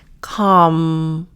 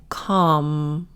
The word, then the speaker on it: calm: You don't have to fold your entire lip, but just Calm. Notice the L is silent. Calm.